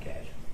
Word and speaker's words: cache: this text that says clear your cache cash I don't know how do you say that cash okay they didn't show